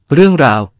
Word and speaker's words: រឿងរ៉ាវ: สวัสดีครับ คำภาษาไทย ในภาษาเขมรวันนี้ ขอเสนอคำว่า "เรื่องราว" (រឿងរ៉ាវ) คำนี้เว็บเขมรแจ้งว่า มาจากภาษาไทย ความหมายใน พจนานุกรมไทย ราชบัณฑิตยสถาน ได้ให้ความหมายของคำนี้ไว้ว่า เรื่องราว เป็นคำนาม คือ เรื่องที่พูดหรือเล่าติดต่อกันไป มีเท่านี้แหละครับสั้น ๆ เพราะอธิบายต่อไปอีกก็จะยืดยาว สรุปว่า เรื่องราว คือ รายการเหตุการณ์ ซึ่งแสดงเป็นรูปแบบหนึ่ง ของความก้าวหน้า และในบางแง่มุม เป็นองค์รวมที่มีความสอดคล้อง หรือเป็นคำอธิบายหรือเหตุผลว่า ทำไมเหตุการณ์ต่างๆ